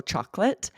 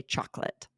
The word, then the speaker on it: chocolate: So, chocolate, right, is actually spelled and is three syllables. Chocolate. But rarely will you hear it that way. We almost always drop it and say chocolate.